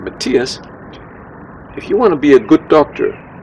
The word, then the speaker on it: Matthias: hip, he said, "Matthias," this is how I pronounce my name, "Matthias, if you want to be a good doctor, you have to be a good researcher."